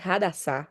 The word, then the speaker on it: Hadassah: Su nombre hebreo, como que ya les mencioné, significa realmente Hadassah, la pronuncia correcta.